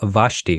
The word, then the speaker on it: Vashti: I mispronounced your name vashti right is that how you say yeah okay yeah cool well